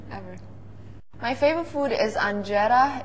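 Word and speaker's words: injera: My favorite food is anjera. It's actually pronounced anjera.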